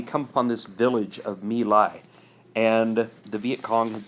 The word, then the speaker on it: My Lai: My Lai, that's how that's pronounced.